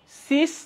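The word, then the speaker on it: cis: একটাকে বলা হয় সিস আরেকটাকে বলা হয় ট্রান্স। এই যে দেখো এখানে সিস বলা হয়, ট্রান্স বলা হয়। এদের সংজ্ঞা আছে। সংজ্ঞা মনে রাখবো আমরা কিভাবে? মনে রাখা খুব ইজি। সিস মানে সেম।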